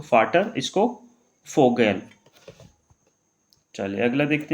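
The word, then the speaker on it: Vogel: Last में आएगा हमारा यहाँ पे फाटर, इसको क्या पढ़ेंगे फै पढ़ेंगे, तो फाटर, इसको फोगेल।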